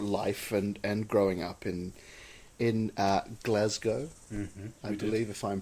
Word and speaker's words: Glasgow: We talked about your life and growing up in Glasgow. Mm-hmm, I believe, if I'm pronouncing that correctly.